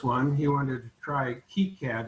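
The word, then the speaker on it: KiCad: before for this one he wanted to try key cad it's called i understand that's the proper way to pronounce it um and so this was his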